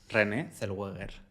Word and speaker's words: Renée Zellweger: Renée Zellweger. ¿Sabes cómo se pronuncia en español? No. René Zellweger.